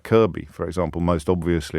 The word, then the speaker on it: Kirkby: them are weird like kirby for example most obviously there's a lot of kirby's in yorkshire which you might pronounce phonetically as kirkby kirby moorside and and